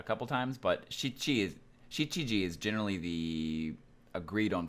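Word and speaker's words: 七時: notice here is that 7 is not pronounced Nanaji I've heard pronounced like a couple times but she cheese she GG is generally the agreed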